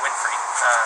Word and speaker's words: Winfrey: My first name's, like a book of maps, and my last name's Winfrey, like Oprah.